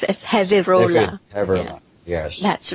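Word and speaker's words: Gevirola: Oh, but pronounced as Heola.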